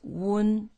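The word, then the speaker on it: wen: And be careful, it's not when, it's wun.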